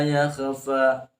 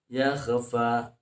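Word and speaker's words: يخفى: ayat keetuuh di sana banyak juga yang membaca illa Masyaallah innahu ya'lamul Jahro wa yakfa yakhfa jadi seolah-olah ko itu dibaca qoqalah padahal ya Ko itu bukan bukan kqola k itu adalah makhrajnya makhrajnya adalah adnal alq atau ujung tenggorokan ya ujung tenggorokan bukan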